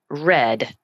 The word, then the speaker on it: read: pronounce them for example the word read R E A if it's present tense it's read with a long e but if it's the word in past tense it's red sounding as if it's